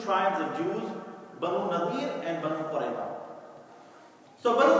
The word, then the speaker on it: Banu Nadir: So and this tribe was called Banu Nadir. Some also pronounce it as Banu Nudayr.